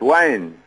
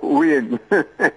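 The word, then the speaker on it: Whyne: Wine. Oh, what you say? So my relatives and they can't pronounce the wine, some say Wayne.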